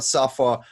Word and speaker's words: Saffer: and i am happy to welcome have a sofa from dollop gourmet in this episode hello heather